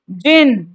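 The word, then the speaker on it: djinn: ये डिजिन नहीं है, ये जिन है।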